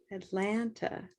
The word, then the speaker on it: Atlanta: is atlanta everybody atlanta atlanta atlanta what we do is we try to assign and we do assign a color to the big stressed syllable so atlanta atlanta black cat atlanta thank you teachers let's